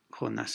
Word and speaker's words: Jonás: La que suena más fuerte es Jonás en la última sílaba y ya está.